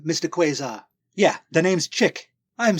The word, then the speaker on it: quasar: quar no quar quar there's no letter r in the first syllable it's it's a thing